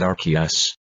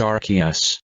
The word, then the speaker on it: Arceus: banned from playing Legends Arceus also can you stop pronouncing it with a soft C fine here goes looks